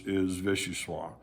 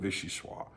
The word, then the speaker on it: vichyssoise: If you know French, you understand that vichyssoise is spelled in the feminine, okay? So, or the O-I-S-E at the end. It's a feminine connotation. And people will argue that it should be pronounced vichyssoise.